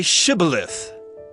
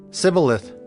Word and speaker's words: shibboleth: said no they said to him then say shibboleth and he said sybileth for he could not pronounce it right then they seized him and